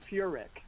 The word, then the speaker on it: Furek: And you know, everybody sort of gets the pronunciation wrong, but it's Furick.